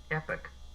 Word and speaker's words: epoch: Epic. Epic. Epic. Okay. No pock at all. It's just epic. Even though it's spelled Epoch.